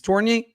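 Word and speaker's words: Tourigny: Um Andre Tori or Toriier tori pronounce it. It's Toriier to Okay. Andre Torier has till Christmas on his hot seat.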